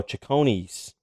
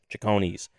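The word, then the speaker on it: Cecconi's: c what is it oh chicony's you're pronouncing it right c-e-c-c-o-n-i apostrophe yes chicony's uh dumbo i think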